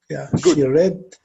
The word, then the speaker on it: read: newspaper uh-huh she read read correct so you remember like we said it's written as read but if you want to make it past tense you have to pronounce this as read so she read the